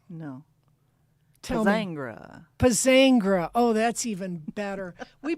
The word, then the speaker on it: Pozzangher: And today we have Pozzangher. No. Tell me. Pozzangher.